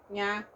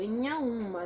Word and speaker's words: Inhaúma: Eu não falo Inhaúma, eu falo Inhaúma, nasalizado, tá?